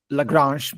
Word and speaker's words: Lagrange: I will probably pronounce Lrange because it's like French name.